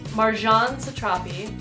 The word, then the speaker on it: Marjane Satrapi: Persepolis by, I believe it's pronounced Marjane Satrapi, I believe.